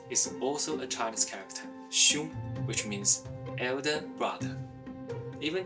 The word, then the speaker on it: 兄: That's because the right part of it is also a Chinese character, xiong, which means elder brother. Even today, in Korean, men still call their elder male friends hyung. It's from this, xiong.